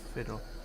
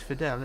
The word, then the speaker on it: Fidel: my last name correctly most people mispronounce it and say fiddle yes fidel isn't it yeah there